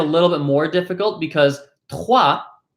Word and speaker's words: trois: Some people find it a little bit more difficult because trois, the T in trois is pronounced using the tip of your tongue, while the R is pronounced using the back of your tongue.